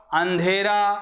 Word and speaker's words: अंधेरा: उच्चारण देख लीजिए आप बोलो अंधेरा, अंधेरा, अंधेरा, आप बोलो अंधकार, तो देखो अंधेरा में तो ध्वनि नाक और मुख दोनों से निकल रही है, जबकि अंधकार में ध्वनि केवल किससे निकल रही है?